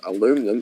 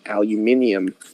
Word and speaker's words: aluminium: It's like how it's not aluminum. It's aluminium. This is just a case where Australia's just wrong.